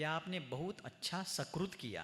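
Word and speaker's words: सुकृत: लेकिन किसी का उच्चारण ठीक नहीं था। उसने कहा आपने बहुत शकुत किया है। सक्रुत की बजाय कहा शकुत। शकुत का अर्थ है विष्टा।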